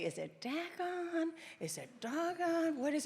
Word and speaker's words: Dogon: Now, some people say, is it Dagon? Is it Dogon? What is it? Just think of it this way. You could say, Dogon, I should have been reading his book. That's how you say it.